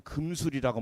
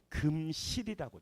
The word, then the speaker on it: 금슬: 이게 지금부터 이제 오늘부터는 금술이라고 하면 혼나요. 그 사람은 술을 좋아하는 사람이야. 뭐가 좋다? 슬인데 우리 한글은 뭐라고 읽어야 된다? 금실이라고 좋아요.